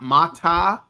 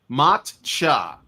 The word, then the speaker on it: matcha: Not ma. Not mata. Not mocha. Macha. That's it. Okay. It's very simple. Two syllables.